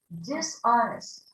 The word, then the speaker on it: dishonest: Dishonest. We don't hear the H. Dishonest. Honest. Repeat honesty. Honesty. Repeat dishonest. Dishonest.